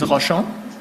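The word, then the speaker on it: Rochon: the record please State your full name and spell it out Roshon r-o-c-h-o-n do you solemnly affirm that the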